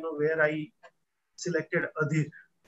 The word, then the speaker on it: Adhir: how where I selected Adhir. It rhymes with some of the famous Gujarati ghazalkar like Mariz, right? Having the same matra as you can have Adhir and Mariz.